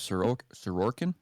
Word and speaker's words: Sorokin: What's important in that one too is Sorokin.